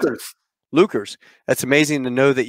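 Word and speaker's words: Leuchars: Is that how you pronounce Lukers. It? Lukers.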